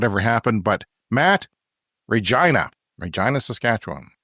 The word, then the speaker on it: Regina: maybe was confused because it rhymes with a vagina it's Regina it is Latin for